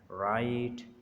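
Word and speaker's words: write: डब्ल्यू इज़ not pronounced at the beginning of the word followed by एन आर। अगर डब्ल्यू के बाद आर आ रहा है तो वो डब्ल्यू साइलेंट होगा। जैसे रैप, राइट, रोंग, यहाँ पर आर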